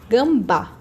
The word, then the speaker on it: gambá: Próxima, gambá. Gambá. Sílaba mais forte, o bá. A gente fala mais aberto, né, mais pra fora, então vai ser um acento agudo.